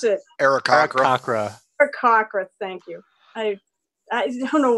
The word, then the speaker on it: Aarakocra: How do you actually pronounce it? Aarakocra. Aarakocra, thank you.